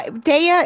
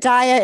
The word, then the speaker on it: Daya: name first off uh deya is the most common but diet is phonetically correct so i guess i'm